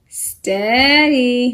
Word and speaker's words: steady: We talked about this EA coming together to make either a long E sound in the word each, E-A-C-H, each, or a short E sound, as in the word bread, B-R-E-A-D, est, eddy. In this text, in this context, it is a short E sound, steady.